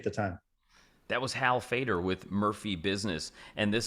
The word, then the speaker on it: Feder: Hal Fader, HALFEDER. You'll find me. Of course, email h.fader at Murphy Business. Fader as a radio fader, but spelled with an E, FEDER.